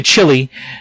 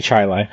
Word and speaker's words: Chili: it's called charlotte and where most people say chili hey they are here they say chili um but out in avon i went to